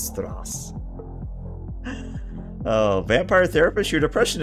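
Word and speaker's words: Straße: It's Strass.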